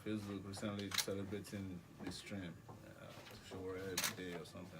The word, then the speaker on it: Sowore: How do you pronounce Sowore? Sowore Sowore.